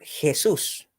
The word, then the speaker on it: Jesús: Jesús porque Jesús porque nosotros la la jota la J inglesa que la en inglés se la suena como latina ya nosotros lo pronunciamos como una como una gutural parecido a la a la Jet hebrea Así que es por